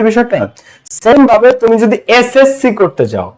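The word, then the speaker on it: SSC: same ভাবে তুমি যদি এসএসসি করতে যাও, কি করতে যাও, এসএসসি, হ্যাঁ এসএসসি, এসএসসি, তাহলে প্রথম অক্ষরটা উচ্চারণ হবে এস, এসএসসি, তাহলে এস মানে কি,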